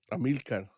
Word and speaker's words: Amilcar: Amilcar.